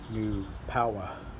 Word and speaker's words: New Power: It comes from New Power. That's how you say it correctly. New Power.